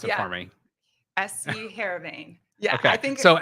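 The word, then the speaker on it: Heerenveen: So how did it go about getting that professional deal with okay, is it, you're gonna have to pronounce it Yeah, for me. SC Heravane.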